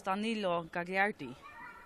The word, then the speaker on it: Danilo Gagliardi: Jag såg att han ska uttalas Danilo Gagliardi.